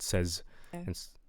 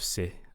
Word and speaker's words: says: So we want says instead of se.